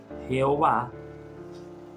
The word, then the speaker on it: Jehová: Más allá de que unos dicen Mira se pronuncia yahvé se pronuncia Jehová se pronuncia yahwe Eh hay una eh